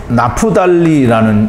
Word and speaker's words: 납달리: 납달리는 이 나프달리라는 이름이 그 발음을 하게 되는데요.